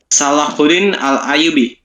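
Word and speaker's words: Salahuddin al-Ayyubi: ya kan pemimpin muslim jadi bacanya kayak gini guys ya Salahudin alayyubi gitu guys Terima kasih lanjut nya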